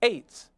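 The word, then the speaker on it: עץ: We documented that tree in Hebrew is ayin tesadi sofit, pronounced eights, and it means to fasten or make firm, that is, to close the eyes shut.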